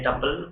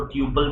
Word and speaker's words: tuple: एक का नाम है टपल, कुछ लोग इसको ट्यूपल भी बोलते हैं, इसका स्पेलिंग है TUPLE, हम लोग इसको टपल बोलते हैं।